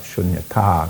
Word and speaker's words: shunyata: And if you understand the way, just by understanding the long sound, like shunyata, it's got a long A on the end, and that's where shunyata, dharmata, not dhamata.